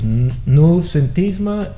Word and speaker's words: Noucentisme: It was Noucentisme and Modernisme, correct? Did I pronounce that?